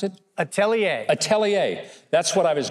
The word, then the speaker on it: atelier: ministry, the Gagneau Atelier, no, how do you pronounce it? Atelier.